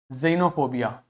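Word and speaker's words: xenophobia: आ गई इसी प्रकार एक्स को आप जड की तरह से प्रोनाउंस करोगे यदि व एक्स किसी भी शब्द के बिगिनिंग में आता है जैसे जाइलम जाइलोफोन जेनोफोबिया जेनोफोबिया मतलब ऐसे लोगों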